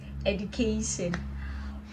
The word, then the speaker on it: education: Education. Well, that is not the right pronunciation. The right pronunciation is education. The D is supposed to sound like a J.